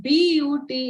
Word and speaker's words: but: Like simple example, the word P-U-T is pronounced put and the word B-U-T is pronounced but. It is irritating and it is confusing till we know the right reason why. It's simple that the letter U has multiple sounds.